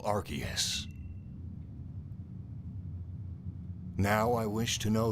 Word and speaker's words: Arceus: The reason why it's pronounced Arceus in the West is because they didn't want people to attach arse to the name.